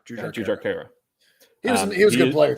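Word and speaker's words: Jujhar Khaira: I always mispronounce this guy's name, and I really shouldn't. Kyra? Jujar Kara. Jujar Kara.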